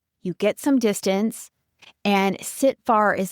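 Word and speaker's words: CTFAR: So, the tool is called sitting far and the model behind it is the sit far model which is spelled c t f a r.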